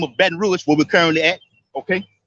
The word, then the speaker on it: Baton Rouge: rouge or red stick baton rouge that's how you say it in french baton rouge it says other stories